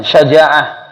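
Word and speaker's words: شجاعة: Kalau sudah tahu bahasa Arab satu diucapkan syaja'ah.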